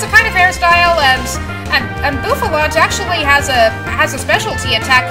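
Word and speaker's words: Bouffalant: It's pretty much, I pronounce it Bouffalont just because a bouffant is the kind of hairstyle, hence the name of this one.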